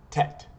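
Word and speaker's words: טית: And Tet in English is spelled T-E-T. In Hebrew, Tet, Yud, Taf. Tet. That's how you pronounce Tet.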